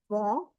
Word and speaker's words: vont: And in the last, ils vont, elles vont, we will not pronounce t anyhow, and on will give you the on sound.